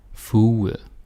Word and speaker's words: fuge: But in Danish, the G, when it comes like this, when it's spelled like this, you want to assume that it's this sort of sound, like W, suge, fuge, uge.